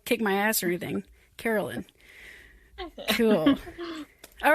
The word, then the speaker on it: Karalyn: Did I misspell that, or did I mispronounce that? No, it's Karalyn. Okay, cool. I didn't want you to, kick my ass or anything. Karalyn.